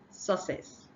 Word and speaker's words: success: have Double C here the nonnative speakers assume that this double C is just I mean because is uh identical sound that's the identical letters that they pronounced the same way so they say success they just take this double c as just S letter or S sound whereas the first C